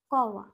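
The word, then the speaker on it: कौवा: যেমন হচ্ছে কয় ঔকার বয়াকার, এটাকে আমরা কি বলবো উচ্চারণটা হবে কওয়া, কি এই উচ্চারণটা হবে কওয়া, কয় ঔকার বয়াকার উচ্চারণটা হবে কওয়া।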